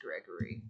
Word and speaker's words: Gregory: I thought he was named Greg. I heard Greg. It is Gregory. Greg. Interesting. You can trust my pal here. Too many syllables.